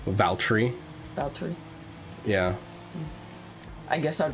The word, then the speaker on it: Valtteri: How do you pronounce his first name? Valtteri.